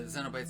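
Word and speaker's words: Cenobites: actually did get the xenobytes and hotline and pinhead in it i like that you pronounce it with a z instead of a c incentivize yeah it sounds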